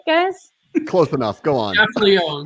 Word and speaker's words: Gaffalione: Gaffalione. Drop the E. Just Gaffalione.